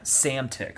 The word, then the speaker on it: Psamtik: Cambyses' forces prevail over the forces of the Egyptian pharaoh Psamtik III in a bloody massacre. Oof. Also, Psamtik, and that's also spelled Psamtik. Silent P's? Yeah, that's a power move. That's silent P? Yeah, Psamtik.